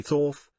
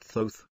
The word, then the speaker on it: Thoth: a man named thoth pronounced with a long o someday people say thorf but he pronounces it thoth the hieroglyph shows his